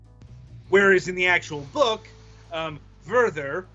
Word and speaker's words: Werther: Whereas in the actual book, Werther, which rhymes with Werther, he ends up committing suicide over his emotions.